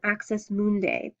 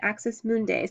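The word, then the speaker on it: axis mundi: to the gods it is also considered an axis mundai an AIS mundai is a cosmic or World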